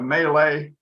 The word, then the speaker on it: Mallet: called a mallet but it's not it's a melee because the guy that came up with this